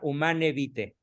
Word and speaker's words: Humanae Vitae: otra vez Ahí está humanae vitae se pronuncia humana evite y se traduce como